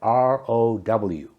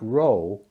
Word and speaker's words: row: Last but not least, we have R-O-W. It's pronounced row when it means a line of things. We sat in the front row at the concert. When it's pronounced row, it means a noisy argument.